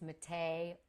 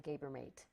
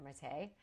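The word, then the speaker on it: Maté: is Gabor, I don't know, Gabor, and it's Mate, M-A-T-E, with the little French thing on the E. So, jokingly, lovingly, I call him Gabermate. That's not how you pronounce it.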